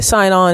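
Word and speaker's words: Sinon: o n i alwaysone I always mispronounce it some people say sonone some people say signon it's but everyone in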